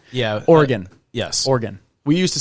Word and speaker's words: Oregon: It's Oregon, right? Oregon.